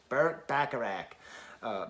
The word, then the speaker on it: Bacharach: i'll say it later i say it like i'm from western new york bacharach but you know i